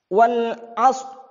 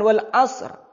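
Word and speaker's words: والعصر: Wal asr. Jadi bukan wal asr. Asr. Misalkan itu tipis. Ini harus dibaca tebal.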